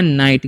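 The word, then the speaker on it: night: तो इसे हम पढ़ते हैं नाइट। क्या होता है? नाइट। यहां पर भी जी एच मतलब साइलेंट होता है।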